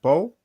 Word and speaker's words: Pau: And Paul? Hi. Yeah. Is that the right pronunciation, Paul? Yeah, Pau. But Paul. Okay.